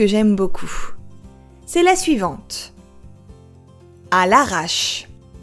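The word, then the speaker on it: à l'arrache: それは、à l'arrache です。À l'arrache. À l'arrache.À l'arrache. Attention à bien prononcer à l'arrache et non pas à l'arracher, car ce n'est pas la même chose.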